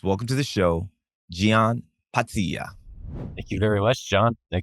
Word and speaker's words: Pazzia: You put the emphasis right on the 2 Z's, Pazzia. But here, Pazzia is what most people say. But you got closer to the actual pronunciation.